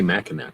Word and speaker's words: Mackinac: They say Mackinac. That's how they say the name of the island.